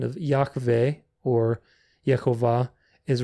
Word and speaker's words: Yahweh: And it's pronounced Yahweh, Yahweh. Yahweh. You'll see how it looks like. We'll go through a very specific pronunciation. The Y is pronounced as in lily or yes.